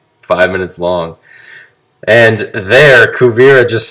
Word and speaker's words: Kuvira: is is happening we learn what uh uh kuvira there i said it right kuvira's whole entire